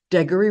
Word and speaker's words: Degory: Degory rhymes with Gregory, and it's often written that way.